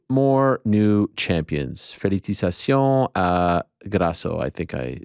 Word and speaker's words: felicitaciones: Felicitaciones a Grasso. I think I said that. How do you say felicitaciones? You got it. I said it in French.